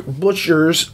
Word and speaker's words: Butcher: him okay jim booker butcher's if i could say his name is not booker it's butchers peace talks is not